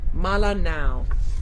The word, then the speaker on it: Melanau: Melano. Oh, it's Melanau. Malanau is how that's pronounced.